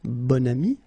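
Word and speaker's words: bon ami: adjective okay and then you pronounce it bonami when you make this link second example B so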